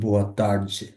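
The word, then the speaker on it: boa tarde: যেমন আমরা যদি বলি বোয়া তার্দ, ওরা বলবে হচ্ছে বোয়া তার্জে।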